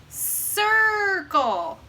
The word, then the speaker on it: circle: So we know that C is going to sound like a S. Circle.